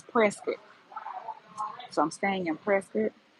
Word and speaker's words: Prescott: It's spelled Prescott, but if you say Prescott, they know you're not from around here because it's Prescuit.